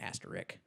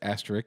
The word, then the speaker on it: asterisk: gotcha the asterisk yeah an asterik there's an s before the k you could say asterisk because it's fine i